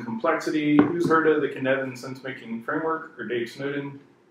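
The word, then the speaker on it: Cynefin: who's heard of the Kineton sense-making framework or Dave Snowden what's one what's me Kineton rhymes with Kevin okay then I'm gonna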